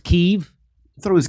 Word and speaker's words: Kiev: sight uh call what it's pronounced keith it's pronounced kiev i thought it was kev no it is not i know that's what